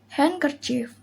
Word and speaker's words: handkerchief: letter d rule 1 d is not pronounced in the following common words example handkerchief wednesday sandwich handsome roto